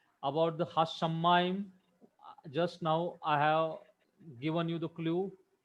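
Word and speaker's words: השמים: Here also only one vowel it, so it is closing the syllable. About the Hashamayim, just now I have given you the clue on whiteboard.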